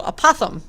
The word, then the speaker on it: apothem: new word is apothem sounds kind of like saying opossum but with a lisp so apothem and opossum is really